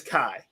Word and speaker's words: Kai: thing to say um i apologize last week a spartan125 i said her name wrong her name is kai they go through and